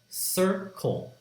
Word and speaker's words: circle: circle what's right here to circle sir Cole circle two syllables again the first sound sir the first